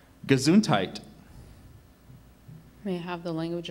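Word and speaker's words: gesundheit: who has just sneezed are there any other pronunciations just gazuntite gazuntite g e s u n d h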